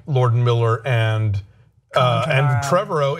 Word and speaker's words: Trevorrow: Lord and Miller and Trevorrow if they whatever. It rhymes with tomorrow.